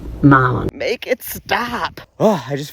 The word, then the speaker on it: Milan: Milan Italy in Tennessee it's m ah it's Malon Tennessee not Milan it's pronounced Malon make it stop I just feel like I